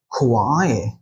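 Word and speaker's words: quay: আর আছে নো বাট দেখুন আমরা যখন এটা উচ্চারণটা করছি তখন কিন্তু বলছি কার্নল কার্ন কার্নল রাইট তার মানে প্রোনাউন্সিয়েশনের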